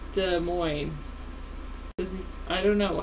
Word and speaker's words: Des Moines: Did he say Des Moines? Sometimes he does that, I think. I think he adds an S on it or something.